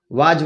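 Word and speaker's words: was: Past में जाएंगे तो बाज, वर, वाज, वर, वाज, वैसे हम लोग बाज बोलते हैं, वाज नहीं होता, सही उच्चारण होता वॉज, वॉज।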